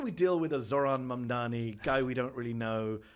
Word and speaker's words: Mamdani: The name is Mamdani, Mamdani.